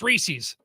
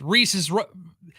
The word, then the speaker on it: Reese's: okay let's do this let's play the rhyming game right rhys reese's has a has a a candy that's in his product line called pieces right reese's pieces doesn't rhyme reese's pieces does there you go drop